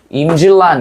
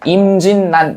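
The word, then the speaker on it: 임진란: 임질란 이렇게 발음해야 된다고. 그런데 그렇게 발음하지 않아요. 실제로는 임진난 이렇게 발음한다. 그래서 니은니은 들어간다는 거.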